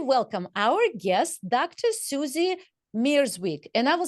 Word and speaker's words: Mierzwik: Susie Mierzwik. And I will say it both ways, so wait for it. The Polish pronunciation is Mierzwik, right? Mierzwik. Yes. But in America, we say Dr. Susie Mierzwik.